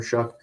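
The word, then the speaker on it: Shough: I think it's Shuck. It's a weird pronunciation for how it's spelled, but it depends on how he plays for Texas Tech.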